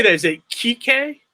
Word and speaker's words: Kike: Is it Kike? Kike, yeah, Kike.